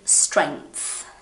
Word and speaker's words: strength: do weights, you need strength. Strength. So you say, it's like you say the G and then you say the TH, so it's strength.